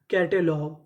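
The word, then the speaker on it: catalogue: सी ए टी ए कैटे एल ओ जी यू ई लॉग कैटलॉग कैटलॉग कैटलॉग का मतलब होता है सूची तो पूरी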